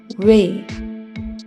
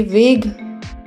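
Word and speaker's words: weigh: ही बनेगी लॉन्ग ए की तो इसे बोलेंगे वे इसे वेग नहीं बोलेंगे इसे वे बोलेंगे वे अगला वर्ड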